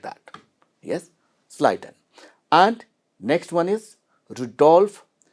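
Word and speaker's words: Schleiden: sliden here spelling to remember spelling you can pronounce anyway but when you speak about this name you have to say what sliden easy to tell his name sliden not clay you down like that yes sliden and next one is Rudolph P here not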